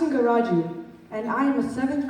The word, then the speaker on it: Singaraju: hello greetings to all my name is pronounced Inga Roger and I am a